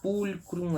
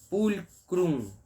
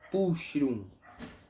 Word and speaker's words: pulchrum: CH em latim é K. É um som de K. Então não é pulchrum. É pulcrum. Tá bem? Releia a frase. Muito obrigado. Como é belo. Pulcrum é belo, lindo, bonito.